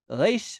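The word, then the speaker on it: ריש: more modern Hebrew pronunciation, keep the tip of your tongue on your bottom teeth right here. Reish, and then make yourself say the letter R. Reish, reish, reish, reish. Reish, arad, arad, Ryan, Ryan, Iran. That's the reish in modern Hebrew.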